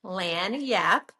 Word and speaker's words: lagniappe: It's a Cajun French term, and it's pronounced lagniappe, but it's spelled Lagniappe, and it means a little something extra.